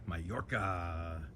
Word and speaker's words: Mallorca: 553 Mayorca Drive. So this is spelled M A L L O R C